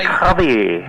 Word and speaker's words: Javier: She pronounces it a bit like Spanish. Yeah, like Javier. My family is from Buenos Aires, Argentina, so my birth name is Francisco Javier Oliveira.